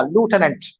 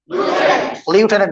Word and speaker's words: lieutenant: Now repeat after me, द लेफ्टिनेंट colonel, इसको लूटेनेंट बोला, लूटेनेंट, लेफ्टिनेंट नहीं, लेफ्टिनेंट colonel ordered his men to advance.